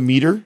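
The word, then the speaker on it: Meater: think it's called the meter the meter yeah it's called the meter right it's spelled meat right yes m e a t e r yes yes yes it's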